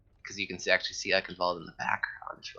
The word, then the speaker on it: Eichenwald: But folks, here we're gonna enter in the third map of a match here, Eichenwald, with the German pronunciation there, and I am hella excited for this.